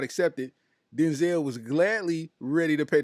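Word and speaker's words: Dynzell: like this man because his name is Denzel right but he spells it d-y-n-z-e-l-l Denzel yeah you uh Denzel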